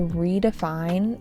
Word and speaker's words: redefine: It was time to redefine what success meant. Redefine stress on the third syllable.